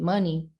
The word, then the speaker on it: Muni: was like that's dope you should pronounce it money and then it was